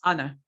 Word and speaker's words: honor: You also have honorable, not honorable, honorable, but honor. The H is silent, honor.